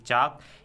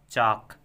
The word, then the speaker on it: chalk: ही कहा जाता है, लेकिन इसकी स्पेलिंग कुछ इस तरह है CHALK, चाक। एल यहाँ पर साइलेंट है, नहीं पढ़ा जाएगा बल्कि कहा जाएगा चाक।